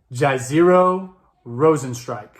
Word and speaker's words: Jairzinho Rozenstruik: We're talking Francis Ngannou versus, I will try this name, Jairzinho Rozenstruik.